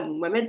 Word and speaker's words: Mohammed: D'ailleurs, aurait pu prononcer le prénom correctement quoi. Mohammed c'est pas voilà Mohamed c'est pas très difficile. Maomé, c'est quand même assez loin du voilà, c'est loin de la prononciation mais bon, c'est assez